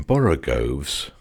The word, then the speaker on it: borogoves: to rhyme with groves again the first o in borogoves is pronounced like the O in Baro I have heard people try to give it the sound of the O in worry such as human perversity